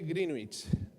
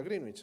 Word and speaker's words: Greenwich: adoptó el meridiano de greenwich que yo he pronunciado toda mi vida greenwich pero se pronuncia greenich no sé bueno cosas